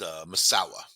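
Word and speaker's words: Masau'u: all sounds like massau m m uh but pronounced maawa that's really the pronunciation they also call him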